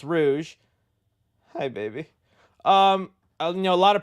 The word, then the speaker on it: Rouge: play Rouge, that I now know is not pronounced Rogue. All my life, I thought Batgirl with them big old dibblies, Sydney Sweeney-looking girl, Rogue Sonic. All my life, I thought this was freaking Rogue, but apparently it's pronounced Rouge.